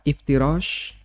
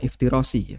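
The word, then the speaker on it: افتراش: Mohon bacanya bukan iftirasi ya. Iftirash, bukan iftirasi. Karena dan itu banyak saya dengar teman-teman yang sudah ngaji lalu dia bacanya iftirasi.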